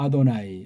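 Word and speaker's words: אֲדֹנָי: 요 발음은 모음 부호 원수들이 짝퉁들이 붙여놓은 것을 빌리면 그건 아도나이라고 읽습니다. 아도나이.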